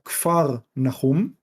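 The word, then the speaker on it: כפר נחום: Capernaum, que en hebreo se pronuncia Kfar Nahum, pero no voy a obligar a nadie a tratar de pronunciarlo en hebreo.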